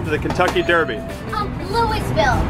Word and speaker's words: Louisville: the way we didn't start how do you pronounce the city that's home to the Kentucky Derby um Louisville wrong wrong Louisville Louisville wrong that was wrong that was wrong